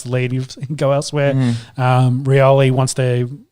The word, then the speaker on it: Rioli: Rioli wants to. That's not how you say it now. He's got it. It's announced differently, isn't it? Rioli. Junior. Rioli.